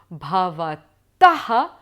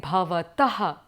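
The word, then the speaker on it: भवतः: it, I am saying bhavataha. But in other words, the more precise kind of pronunciation would be bhavatah, with the aspirated sound, just the breath being released.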